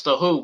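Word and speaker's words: The Hu: um pete townsend the who i'm talking about the who that's t h t-h-e-h-u go look them up on youtube they have a great cover of metallic metallic sad but true huh h.u let's pronounce the who mongolian heavy metal kick ass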